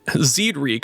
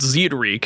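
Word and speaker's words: Zied Rieke: playay aspect from inod Zed reek I put it on on Google Translate to see if I'm going to say it right but Zed reek is what I'm going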